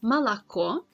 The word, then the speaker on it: Молоко: Letter O is not stressed, then it is pronounced as A sound, like in examples Молоко, Москва, Мороз.